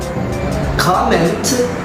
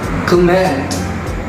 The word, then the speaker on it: comment: Because if it functions as a noun, then the primary stress is in the first syllable. If it functions as a verb, then the primary stress is in the second syllable.